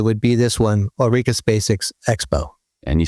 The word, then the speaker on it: Spacek: be this one, Ulrika Spacek's Expo. And you spell that Ulrika, space with a K at the end. Right. So Spacek, like Sissy Spacek.